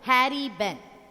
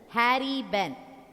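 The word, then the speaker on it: Harry Behn: The Kite, written by Harry Benn. The poet's name is Harry Benn. Harrybehen. Harry Benn. That H is silent. Ben, H is silent. Harry Benn was an American writer.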